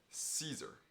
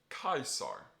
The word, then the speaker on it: Caesar: seen this name before in English we call him Caesar but in Latin class to protect practice pronunciation we're going to call him kaisar with a hard C likewise Cicero will for